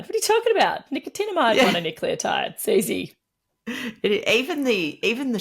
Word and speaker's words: nicotinamide mononucleotide: it and the supplement is is hard to pronounce nicomide mononucleotide what are you talking about nicotinamide mononucleotide Cy even the even the shortening of nnn